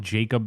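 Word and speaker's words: Jakob: because I called it Jacob the Liar. She's like, "It's gonna be Yakob the Liar." Watch the movie. The guy's name is Jacob. Yeah, they were pronounced it Jacob. Should be pronounced YaKob.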